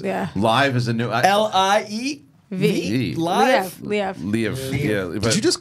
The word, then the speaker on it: Liev: So Live Schreiber is Kingpin. Live. The cast, that one I've never heard before. I've heard his name pronounced a lot of different ways. Yeah. Live is a new. Liev.